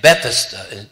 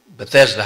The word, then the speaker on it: Bethesda: the the pool was called bethesda is actually bethesda the way it's elaborated it's not bethesda how we often pronounce it but then that's not the important